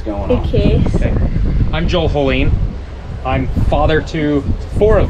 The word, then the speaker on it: Hoellein: Hoellein. Like Jolene, but with an A.